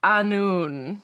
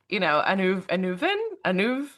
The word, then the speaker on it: Annwn: ago at this point, told me that it was Annwn, the spoils of Annwn, not, Anuv. I'm going to butcher all